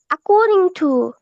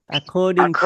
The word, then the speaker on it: according to: according to খ, খ, according to ক না, ক না, খ। অ্যাকর্ডিং টু। according according to according to